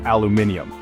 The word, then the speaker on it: aluminium: Americans say aluminum, while much of the world says aluminium. Both are correct.